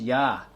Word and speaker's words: Yah: It is known that the first syllable is Yah.